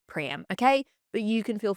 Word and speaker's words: Priam: Some sources say Priam, some say Priam. So I'm just going to keep saying Priam, okay?